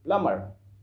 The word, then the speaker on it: plumber: You have to से, because प्लम्बर बी is silent here, you don't need to use B, you don't need to pronounce B, you have to say plumber.